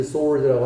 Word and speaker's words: sword: double-edged sword라고 합니다. sword가 아니야 발음이. 뭐 이거 알 필요 없지. 어차피 이게 있는 건 아니니까. sword입니다. W가 묵음입니다. sword.